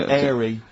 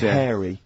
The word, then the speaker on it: hairy: Sorry, I noticed both of you there dropped the H, or the H, or however it's pronounced. I had to. So airy kids, hairy. Yeah. Hairy children, not sort of airy, kind of light-headed or...